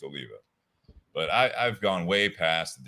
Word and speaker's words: Oliva: And a lot of times I do have people like, Olivia, is that how you say it? I'm like, actually, it's Oliva.